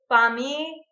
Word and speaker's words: famiglia: The sound comes out of the sides and the G is not even pronounced. Famiglia. Famiglia. It's not like million, which is up there.